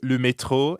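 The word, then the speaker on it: le métro: just means yep and the french r is in the middle of metro so it sounds like you're clearing your throat excellent now let's plug le metro into something useful like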